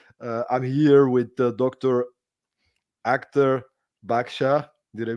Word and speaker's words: Akhtar Badshah: real treat today uh I'm here with Dr Actor baksha did I pronounce it well this time yes you did